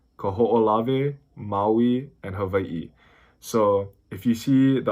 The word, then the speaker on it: Hawaiʻi: Even the W in the Hawaiian alphabet, depending on the word, it's pronounced like a V. So that's why it's Hawaii, not Hawaii.